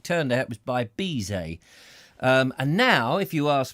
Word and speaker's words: Bizet: It's Bizet. Very busy man. He's so busy, he can't even pronounce the T on the end of his surname.